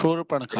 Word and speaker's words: शूर्पणखा: हाँ, मैं अशुद्ध उच्चारण कर गया था और किसी व्यक्ति ने सही उच्चारण किया। शूर्पणखा, राक्षसी शूर्पणखा।